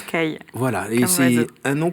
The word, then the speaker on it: Callies: Alors votre nom s'écrit plutôt Caliès, c'est ça? Oui, mais ça se prononce Caille.